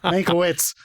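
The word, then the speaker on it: Mankiewicz: Manovich who won an Oscar for writing and directing this year. You bastard. Manowitz. That's how they pronounce his name. Don't you go with the fucking fatherland pronunciation.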